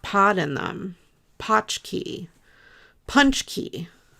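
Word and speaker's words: pączki: poch key punch key I think the the box says p u n c h ke y punch key um which I thought was weird cuz it's not spelled like that at all but anyway I could be wrong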